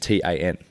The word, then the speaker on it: tarn: Tarn t I think it's just t a n and it's called a tarn, pronounced a tan and it's just literally